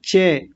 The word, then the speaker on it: च: यहाँ कई लोगों का उच्चारण आता है चे, चे नहीं च, ऐसा।